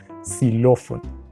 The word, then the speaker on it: xilófono: que también tiene ese con palabras como xilófono xenofobia que aunque se escriben con x se pronuncian como si fuera una s porque así funciona el